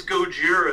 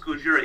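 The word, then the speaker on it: ゴジラ: like actually it's got jira Gojira yeah it's Gojira it's pronounced Gojira yeah it's pronounced shut the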